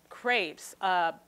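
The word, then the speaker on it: crêpe: background or what as well excuse me about crepes crepes originated in France really started to flourish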